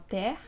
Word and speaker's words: terre: Sí, cuando hay dos consonantes después de la E. Pueden ser idénticas, como terre, o pueden ser diferentes, como merci.